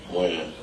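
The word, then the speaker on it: Wynn: Win.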